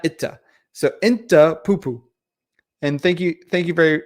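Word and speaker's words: أنت: No, it's not Itta. It's Inta. Inta Poo-poo. So you wanted to put an in before the two T's, because you in Arabic is Inta, not Itta. So Inta Poo-poo.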